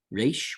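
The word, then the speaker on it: ריש: Resh, which gives you a nice R as in robin. Now you don't have to trill it or roll it or do anything fancy like that.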